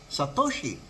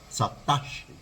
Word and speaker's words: Satoshi: and news show were by now pronounced Satoshi as Satoshi not satachi but Jimmy is jamy